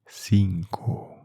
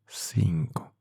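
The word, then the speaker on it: cinco: Uh, what is the pronunciation of five in Spanish? Sinko. Five. Sinko.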